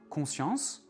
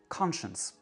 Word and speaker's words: conscience: On dit conscience, conscience. Ça, c'est vraiment la réduction vocalique qui fonctionne à plein. C'est la première syllabe qui est prononcée pleinement et toutes les autres syllabes sont réduites.